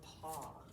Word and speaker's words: paw: which we call a paw that is spelled p a w paw p-a-w and then the aw says ah paw the last box